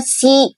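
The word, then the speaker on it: 析: Ini bacanya si si artinya apa?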